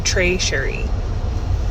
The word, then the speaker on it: Trey Sheri: pronounce it to people I say Trey like a lunch tray and then share like the singer and then re so Trey Sheri that's it I think